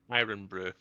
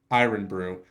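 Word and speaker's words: Irn-Bru: or irn Brew how how do you pronounce it iron Brew iron Brew what does it taste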